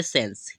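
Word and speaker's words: sense: हमने एस बनाया और ई लास्ट में जो दिया है वो क्या रहेगा हमारा अभी जैसे यहां पर भी मैंने बताया था वो क्या रहेगा हमारा साइलेंट रहेगा इसका कोई उच्चारण हम नहीं करने वाले हैं ठीक है तो इसे हम क्या पढ़ेंगे इसी तरीके से इसे हम पढ़ते हैं इसका प्रोन करेंगे तो इसे हम पढ़ेंगे सेंस क्या पढ़ते हैं सेंस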